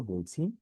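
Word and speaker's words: باء: বা উচ্চারণ একদমই সহজ, এখানে লেখা দুই ঠোঁটের ভিজা জায়গা হইতে উচ্চারণ হয়। আমাদের ঠোঁটের দুইটা অংশ, একটা ভিতরে একটা বাহিরে। ভিতরের অংশটা একটু ভিজা থাকে, বাইরের অংশটা শুকনা থাকে। তো আমরা এইভাবে উচ্চারণ করব না, বা, বা, না, এটা ভুল। আমরা স্বাভাবিকভাবে যেভাবে থাকি, বা, বা, বা।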